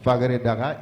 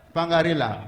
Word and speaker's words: Fangarela: je viens de citer, Fagaredara et Siela. Fagaredara et Siela, c'est vers Kouakourou également, et entre Kouakourou et Saouna. Pardon? Fangarela, voilà, et Siela, Fangarela. Merci pour la prononciation.